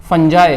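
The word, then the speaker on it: fungi: Lichens होते हैं algae plus फंजाई, है ना, या फंगस, कुछ भी कह लो, फंजी, कुछ बहुत सारे प्रोनाउंसिएशन है ना।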